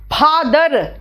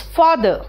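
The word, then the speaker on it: father: English में हर letter पे जोर नहीं देते हैं, आखिरी में आर आता है वो साइलेंट हो जाता है। इट इज नॉट फादर, इट इज फादर, है ना।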